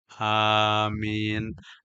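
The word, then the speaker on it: آمين: Amin. Alif itu 2 harakat karena di atas alif ada barisnya cagat. Mim dengan nun ada di pertengahannya huruf ya, menandakan min 2 harakat lagi.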